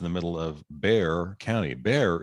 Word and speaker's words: Bexar: Bear is spelled Bexar. I have no idea what the derivation of that word is, but if you're not from there, you look at Bexar and you have no idea You're right. how to say it.